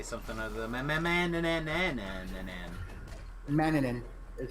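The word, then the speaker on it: Manannán: gonna take me to say something other than Maninin is how it's actually pronounced.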